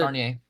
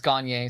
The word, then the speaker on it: Gagnier: Yeah, it's Gagnier. So, it's like yeah, there's there's no R in it like in the first pronounced like in the first half of it. There's like there's like 60 different ways to spell my last name and only one way to pronounce it.